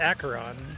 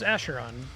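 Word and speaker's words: Acheron: In case you're wondering, it's pronounced Aaron. I thought it was Asheron.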